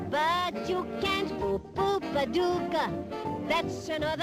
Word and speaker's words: Paducah: Paducah, Paducah, if you wanna, you can rhyme it with bazooka, but you can't poo-poo Paducah.